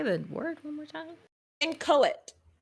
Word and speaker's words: inchoate: I literally am pronouncing it the way Google is saying it. I pressed the button to pronounce it. Inchoate. And it's also, for those who can see in stream, I'm pretty sure you can see the phonetic pronunciation of it. And it's like IN space KOET with little what's the word?